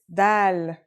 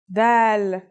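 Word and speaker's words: د: Our first letter is Dal. It's just like the English D.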